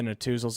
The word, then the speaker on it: Netusil: you're getting with the Natuzels. If you'd like to connect them, search them. Natuzel Financial Services of Raymond James. That is spelled Netusil.